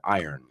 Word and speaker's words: iron: Yeah, the R is kind of suave. Iron.